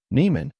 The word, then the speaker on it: Nieman: I am I answered what your last name Neiman what is it Neeman I said louder how do you spell that and I man I took my time